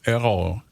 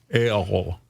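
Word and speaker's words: Ærø: So now he's a pastor of a church in the island of Errol, which is unpronounceable by Americans. Right. It's an A-E-R-R-O-U. And Errol. That's close. Good enough.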